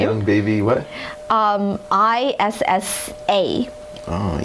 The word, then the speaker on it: Issa: a very cute name young baby what um i-s-s-a oh issa issa young baby issa thank you tony i